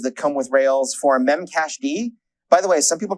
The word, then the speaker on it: memcached: In this case, there's existing adapters that come with Rails for memcached. By the way, some people pronounce that memcached. They are wrong. The D in memcached stands for daemon, which is the terminology